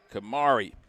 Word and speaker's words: Kamari: Get a to baby Kamari. She'd said it rhymes with Ferrari.